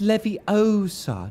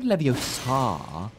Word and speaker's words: Leviosa: your dick oh wow that's not an attack spell it's like it's Leviosa not not Leviosa oh I broke his Podium I'm so sorry